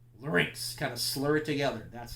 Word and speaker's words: larynx: again note the spelling of Link's it's not lar nix larynx kind of slur together that's how it's that's how it's pronounced alright now now we go to your